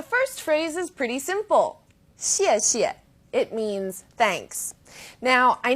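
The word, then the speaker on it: 谢谢: You can think of it kind of like the word she and 谢.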